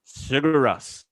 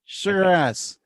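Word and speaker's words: Sigur Rós: The chase offers the viewer to see the natural beauty of Iceland and the haunting music of Sugar Rose. How do you say their name? Sugar Russ. Sugar Russ.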